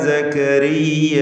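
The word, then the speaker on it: زكريا: വജ്അൽഹു റബ്ബി റദിയ യാ സക്കരിയ. ഇവിടെ യാ സക്കരിയ ഈ പദത്തിൻ്റെ അന്ത്യത്തിൽ വരുന്ന ദീർഘം മദ് മുൻഫസിൽ വാജിബ്, മദ് മുൻഫസിൽ ജായിസ് എന്ന ദീർഘമാണ്. മദ് മുൻഫസിൽ ജായിസ് അലിഫിനെ 4-5 ഹറക്കത്തിൻ്റെ അളവിൽ ദീർഘിപ്പിക്കൽ അനുവദനീയമാണ്.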